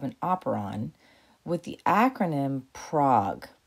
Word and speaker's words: PROG: So you can remember all the parts of an operon with the acronym PROG, but not spelled like the city. It's spelled like frog.